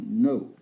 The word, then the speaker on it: know: Vous ne prononcez pas le K et vous ne prononcez pas à la fin, donc ça donne know.